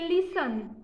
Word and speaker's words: listen: एक है लिसन, LISTEN। उसके बाद OFTEN मीन्स ऑफर, इसमें भी टी नहीं, लिसन, टी नहीं बोलने का, लिसन।